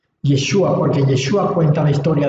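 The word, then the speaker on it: ישוע: No lo olvide, Yod, Shin, Vav y Ayin, que su forma de pronunciarlo en español es Yeshua. Yeshua, porque Yeshua cuenta la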